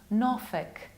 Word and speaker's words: Norfolk: Usually we pronounce this word like folk, folk, but here we have to change the pronunciation and we pronounce it like Norfolk, thick, Norfolk. We have to reduce it.